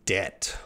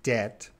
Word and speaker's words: debt: In debt. Ooh. So remember pronunciation here, that B is silent. We do not say that B. In debt.